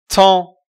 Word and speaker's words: temps: Temps. نه پ تلفظ میشه نه اس تلفظ میشه.